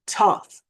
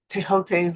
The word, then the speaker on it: Thoth: And once again, Thoth, Tehote, however you want to pronounce his name, Thoth, the Egyptian god of wisdom.